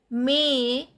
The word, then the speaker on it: mais: May. AI sound is A, S is not pronounced.